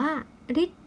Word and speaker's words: ฤทธิ์: คำ แรก นะ คะ ประสม กับ ตัว ท. ทหาร นะ คะ จึง อ่าน ออก เสียง เป็น ริ นั่น เอง นะ คะ คำ นี้ จึง อ่าน ว่า ฤทธิ์ ที่ ซึ่ง แปล ว่า